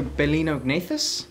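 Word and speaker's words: Balaenognathus: and get stuck in yeah so Berlin so bolinao agnathus is how you pronounce it yeah the the baleen is from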